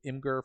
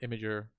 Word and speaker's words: Imgur: You could also use Imgur for photos. I don't think you can upload videos on Imgur or Imager, however you want to pronounce it.